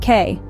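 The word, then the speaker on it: que: the third word is qu pronounced K it means that in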